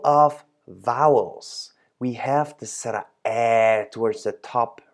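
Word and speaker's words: สระแอ: we have to make sure that we all pronounce it the same way. Now, this is the card of sara air, and as you can see, there's twice basically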